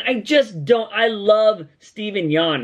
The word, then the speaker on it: Steven Yeun: He should be Nightwing, and I just don't, I love Steven Yeun, right?